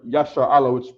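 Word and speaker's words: ישראל: in in the word Yasha Allah which is the uh the Hebrew pronunciation for Israel Israel all right so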